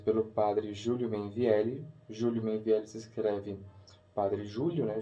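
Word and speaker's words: Meinvielli: Júlio Mainvielli se escreve Padre Júlio, né? Julio. Mainvielli é M-E-I-N de navio, V-I-E-L-L-E. Júlio Mainvielli.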